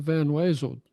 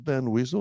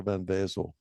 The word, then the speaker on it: Van Wezel: so the folks that have never, the Van, is it pronounced Van Weasel or Van Wezel? Like the Wezel? I don't know. I think it's spelled with a W. It's spelled with a W. I always call it the Yeah, weasel, yeah. which is not correct.